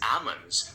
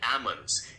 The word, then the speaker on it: almonds: It is Is it almonds or almonds? The standard pronunciation is almonds, where the l is usually silent. So, you would say it like almonds.